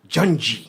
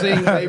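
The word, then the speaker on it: Yngwie: He says, no, it was just pronounced Junji.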